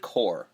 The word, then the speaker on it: Corps: have pet peeves for that and the word cor as in like military the US Marine Corps whatever it corpse people always say corpse and people argue with me like guys that's